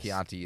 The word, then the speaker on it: Chianti: Yes, Chianti is a yes. word that has a k sound spelt with a ch.